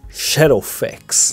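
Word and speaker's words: Shadowfax: era o cavalo branco se escreve scath mas se fala xeroffex o senhor dos mearas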